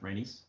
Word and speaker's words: Rhaenys: Is that how you pronounce it? Rhaenys?